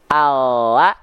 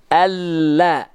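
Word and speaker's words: الله: Maka ilustrasi pelafalannya kalau tadi huruf L hanya menyentuhkan ujung akhir lidah saja, Allah. Sedangkan kalau huruf lam, Allah. Allah lebih penuh. Allah. Kalau L, Allah, Allah. Kalau lam, Allah, Allah, Allah.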